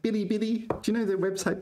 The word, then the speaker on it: Bilibili: And you pronounce it first tone.